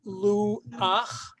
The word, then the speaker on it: luach: Line 3, we have luach. Remember, because you have the vowel there, and under the chet at the end of a word is pronounced as ach, not cha.